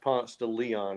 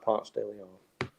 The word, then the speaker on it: Ponce de Leon: ponce de leon uh is it's not it's pronounced ponce de leon in atlanta just so you know not ponce de leon oh yeah in atlanta you you turn right on ponce de leon down to the varsity yep okay so arts